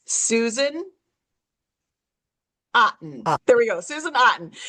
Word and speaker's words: Otten: It's Susan Otten.